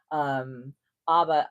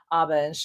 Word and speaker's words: ABBA: we were like putting ABBA. I've always pronounced it ABBA. I'm going to call it ABBA. And I know it's ABBA. And I know that they even pronounce it themselves, the band ABBA.